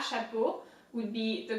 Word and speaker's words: chapeau: And then the second word is chapeau. Chapeau in French means hat. So CH again is pronounced sh, like shut up. Chapeau. EAU in French is O. Think of O, the letter O, right?